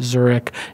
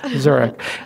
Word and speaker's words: Zurek: Angel Co / zurich zu r EK like the city pronounced like the city spell slightly yes zurich and yeah thank you